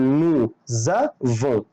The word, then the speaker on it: nous avons: الحرف المتحرك هيخلي الاس تنطق زد، فانا بنطق زد بس مش بكتبها، يعني دي بتبان في النطق. يعني هقول نو زافون، نو زافون، vous avez، ils ont، elles ont.